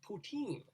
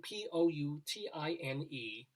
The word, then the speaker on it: poutine: um it sounds like the word poutine sounds like putin p-u-t-i-m right and they